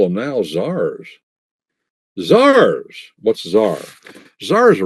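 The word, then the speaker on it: tsar: Zars. What's Zar? Zar is a Russian word. A Russian word. A Russian per word for what? That's their pronunciation of the word Caesar.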